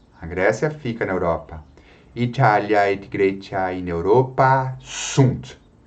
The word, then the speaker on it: Italia: Ele informa você que essa vogal deve ser pronunciada de modo um pouco mais prolongado, tá? Italia, e não Itália. Italia.